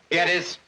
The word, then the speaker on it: Gettys: is named Big Boss James gtis or Gettys or Gettys they pronounce it Gettys I don't think I